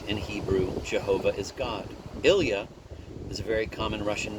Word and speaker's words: Ilya: Ilya is a very common Russian name, pronounced very much like the French Il-I-A.